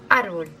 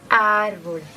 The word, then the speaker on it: árbol: tiene el golpe de voz en la tercera sílaba. 1, 2 y 3. Cámara. Árbol. 1 y 2. Árbol.